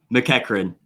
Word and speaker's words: McEachern: McEachern. But and no one ever gets this right. You look at it and it's spelled like McEachern, so that's what I get all the time.